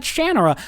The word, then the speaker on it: Shannara: I was the pedant who, after I met Terry Brooks and he said, "It said Shannara," I drilled into my brain, even though I